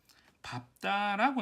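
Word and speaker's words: 밟다: 리을 비읍의 경우 대체로 사실은 리을로 나는데 예외로 밥다, 넙둥글다, 넙죽하다, 넓적다리 이 아이들만 비읍으로 발음이 나는데 얘는 외우시는 게 좋을 것 같아요.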